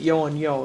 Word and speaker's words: Yeo and Yeo: who we have to I think you pronounce it yo and yo it's Yeo and Yeo and we decided last